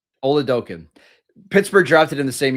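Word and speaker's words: Oladokun: Olaoken is how you say his name, by the way.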